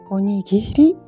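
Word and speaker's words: おにぎり: Onigiri in giapponese si scrive così, si legge onigiri.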